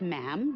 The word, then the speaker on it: ma'am: For instance, when you're addressing the Queen, she is Her Majesty, and after that, it's just ma'am, rhymes with jam, and it's always a curtsy, especially in public.